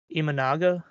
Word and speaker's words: Imanaga: don't know how to say his last name imanaga yeah yeah it's exactly how you say it